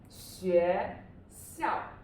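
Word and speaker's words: 学校: Okay, the first one should be 学校. 学校. Okay, which tone is 学? 学, second tone, right? 校, fourth tone.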